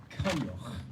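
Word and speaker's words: Coinneach: For those of you who don't know what my name is, or don't know how to pronounce it, I promise you, really easy. It's Kanyoch.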